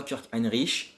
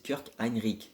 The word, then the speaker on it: Kirk Hinrich: ce sera kirk hinrich attention la prononciation je sais qu'un inquiète pas trop c'est pas kirk hinrich c'est kurt heinrick un nouveau su si